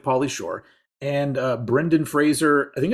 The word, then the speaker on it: Fraser: of him explaining that it's like Razer with it with an FR before it and I was like oh Fraser I've been one of